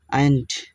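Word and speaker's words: aren't: এদিকে আমরা একই সাথে আরএন্ট ইউ এ স্টুডেন্ট, ARENT, আয়েন্ট, এই উচ্চারণ হচ্ছে আরএন্টের আর উচ্চারণটা হবে না এখানে, আরএন্ট ইউ এ স্টুডেন্ট,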